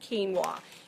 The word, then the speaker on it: quinoa: I've heard it called lots of things, but it's actually pronounced quinoa.